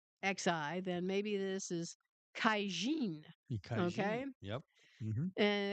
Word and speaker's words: Caixin: I'm assuming that is. It's spelled Caixin. If if Sheen? Xi is Xi, then maybe this is Kaijin.